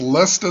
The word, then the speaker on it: Leicester: CNN they have this article about I believers pronounced lesta city and how they could win the Premier